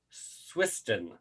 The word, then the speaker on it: Swiston: a little bit about him first um basil swisston and i i had trouble pronouncing your last name earlier so i'm i'm